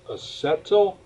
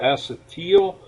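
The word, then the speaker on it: acetyl: add on the yl that becomes a settle or acid teal I've heard it pronounced both ways by different people I'm not going to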